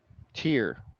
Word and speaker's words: Tyr: 1990 release and uh tier is how they pronounce it yep that's tyria okay